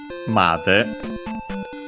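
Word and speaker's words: まで: But yeah, so we have this one made. So in our case, yeah, we uchi made. So low, high, high, and then low, because yeah, the accent is on ma, and so it's high up to that point.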